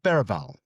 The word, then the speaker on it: Berbatov: Berbatov, as we now call him, cuz that's how you pronounce his name, of course.